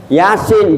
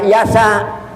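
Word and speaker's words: يس: Yasin bacanya yasa.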